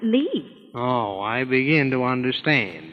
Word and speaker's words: Lits: I know it's spelt Lits, but over here they pronounce it Lee.